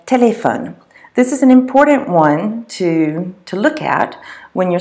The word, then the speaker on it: au: what goes in front of those kinds of nouns. When you have a and le next to each other, they form a contraction, and it becomes A-U, pronounced O.